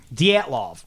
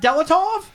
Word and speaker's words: Dyatlov: All right. Dyatlov. You did it. The Dyatlov incident. It is indeed. It's not Delatov?